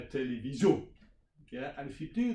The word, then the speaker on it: télévision: So that's the second one is you put the stress on the end. Yeah, télévision.